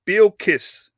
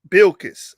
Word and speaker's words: Bilkis: i'm saying he says how to pronounce that word is bill kiss bilkiss all right they called her bill kiss thank you brother come